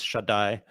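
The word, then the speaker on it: Shaddai: many names for God one of them is Shai which actually etymologically is probably uh connected to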